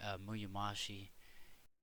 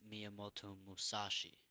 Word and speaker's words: Miyamoto Musashi: If he's right, Muyomashi. Uh, I said his name wrong. My bad. It's Miyamoto Musashi.